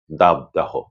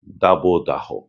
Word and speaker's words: দাবদাহ: তারা বলেন তাপ প্রবাহ দাপদাহ এমন করে এ দুটি কিন্তু সম্পূর্ণ ভুল উচ্চারণ এটি করা চলবে না। করতে হবে তাপপ্রবাহ দাবদাহ।